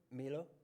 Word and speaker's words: Milo: That's Milo, or Philip, how do you say it? Milo? Yeah, Milo.